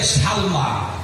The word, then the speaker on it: সালমা: ভালো করে বলছেন, আবু বকরের নাম হচ্ছে, মায়ের নাম হলো হযরতে সালমা। জোরে বলে নাম কি? সিন লাম জবর সাল, মিম খারা জবর মা, কি হলো উচ্চারণ? সালমা।